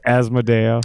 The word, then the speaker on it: Asmodeia: say it you'll figure it out but it's asmodeum where can people follow follow you if they